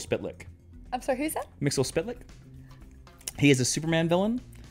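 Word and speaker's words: Mxyzptlk: good Lord but yeah Mixel spit lick that's the official pronunciation I hate it when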